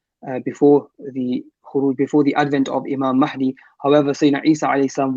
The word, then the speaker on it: Mahdi: And Hazrat mentioned that the correct pronunciation, we often write it with an E, but the actual pronunciation is Imam Mahdi, this with a fatha.